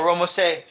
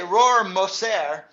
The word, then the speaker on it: Rohrmoser: It's a German name. Rohrmoser. Rohrmoser. They just call Rohrmoser. They don't pronounce it right. They don't say Rohrmoser. They say Rohrmoser.